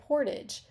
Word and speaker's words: portage: how do Canadians say Portage Portage is pronounced differently depending on where you live in the American Midwest